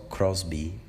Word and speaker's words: Crosby: foi a querem se crosbie se não me engano é crosby que se pronuncia ela tinha 19 anos